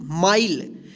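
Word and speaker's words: mile: अब देखिए एम आई एल ई माइल। इसको मिले नहीं पढ़ेंगे।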